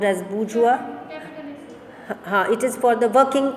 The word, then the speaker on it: bourgeois: That is, patriotism is a bourgeois sentiment. Underline the word bourgeois. It's pronounced as bourgeois.